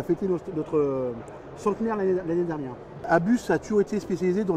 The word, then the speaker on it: ABUS: On dit bien Abus parce qu'en fait Abus c'est l'anagramme de August Bremaker qui est le créateur de la marque. D'accord. Et en allemand Son et fils. Et donc on prononce bien le S de chez Abus.